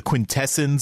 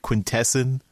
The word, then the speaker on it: quintessence: was annoying and the the quintessence of course that's another issue I don't know why they keep pronouncing it quintesson but yeah so those